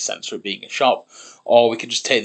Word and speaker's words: siop: And word for shop, I believe in Welsh is just shop, but it's spelled SIOP.